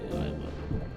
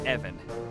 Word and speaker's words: Ivan: You might have saved my life today, so ask away, Ivan. Evan. It's pronounced Evan. With a short, guttural.